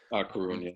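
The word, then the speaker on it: Coruña: So last year you played for Coruna. Am I pronouncing that right? Coruna.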